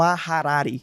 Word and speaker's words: Harari: Me ajuda aí com essa pronúncia, tá? É o E e Il vai no Harari.